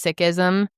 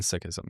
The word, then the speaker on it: Sikhism: I've always heard them just pronounced as Sikh. That's how like 99% of people pronounce it, Sikh or Sikhism. However, if you talk to somebody who's an actual Sikh, they say it's Sikh, not Sikh.